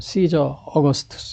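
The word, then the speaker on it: Caesar Augustus: 우리나라말 가이사라 거는 저입니다 영어 발음은 시저 어거스투스 이렇게 돼요 시저 어거스투스 이렇게요 아구스투스 그래서 여러분 잘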